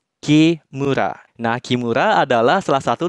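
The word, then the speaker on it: 木村: kanjimura yang artinya desa itu akan dibaca Q murah nah Kimura adalah salah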